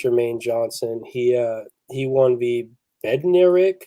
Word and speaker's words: Bednarik: He won the Bednarik. You guys know how to say that? Yeah, you said it right. You nailed it.